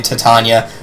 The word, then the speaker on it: Titania: have titanium visit here i know i'm alternating pronunciations and i really don't care i know people are gonna be like yeah you're pronouncing this name wrong i'm just gonna go with whatever flows best i know it's technically titania but titania is easier to say some of them are